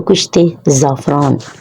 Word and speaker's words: کشت زعفران: اس کو بولیں تو کشت زعفران بولیں. یہ اس کی درست پروننسیشن ہے. اس کو صحیح تلفظ کے ساتھ بولیں کشت زعفران. کاف کے نیچے جو ہے وہ زیر آتی ہے.